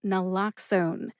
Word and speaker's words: naloxone: Nal like Nala from Disney's The Lion King. Nlloxxone. Nala. Ox like the animal ox. And own as in I own the microphone that I am talking into right now. Put all three syllables together and you get nlloxxone.